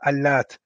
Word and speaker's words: Allat: Allat. بتخفيف التاء, meaning that the ta is light. Yeah. So it's pronounced Allat.